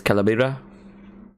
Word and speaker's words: Calabria: Here's Calabria. That's how you pronounce his name.